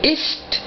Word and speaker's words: isst: sprichst, essen, comer, du isst. Aquí la pronunciación es igual que el ist de ist, el es. ¿Sí? No varía la pronunciación, es igual que tenga dos S a que tenga una, pero obviamente nos damos